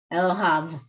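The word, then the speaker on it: אלהיו: Elohav. There's a V, there's a vet, a Okay, vav at the end.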